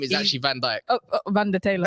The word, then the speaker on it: Van Dijk: Taylor, It's the spelled Van Dutchman. Dijk, but it's not spelled YK. I mean, it's spelled YK, not IJK. Oh, like Dick Van Dyke.